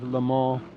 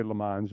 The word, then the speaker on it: Le Mans: Yeah, the French is Le Mans, Le but Mans. we always Le Mans, yeah. Okay. But we always say Le Mans.